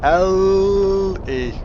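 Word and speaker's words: Elly: Ali! Or L-E. As it's properly pronounced.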